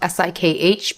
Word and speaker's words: Sikh: It's spelled S-I-K-H, pronounced Sikh, not Sikh.